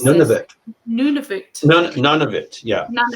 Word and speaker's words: Nunavut: So, all of Canada's provinces and territories, except for, how do you pronounce None this? of it. Nunavut.